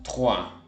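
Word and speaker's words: trois: El ruido de fondo la o y la hizo una ua como cuando en ese agua pero sin la a y la G = Por ende decimos Juan para decir tres decimos Juan otra regla la q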